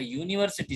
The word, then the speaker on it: university: So still the word university has started with U, though it is vowel, but its pronunciation is Y sound.